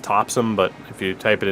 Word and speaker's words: Topsham: ray claussen of the belfast uterelle topsham it's pronounced topson but if you type it into a gps